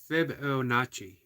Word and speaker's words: Fibonacci: mispronounce flow says people you trust scer says pronounced Fibonacci Fibonacci okay I see it and I'm going to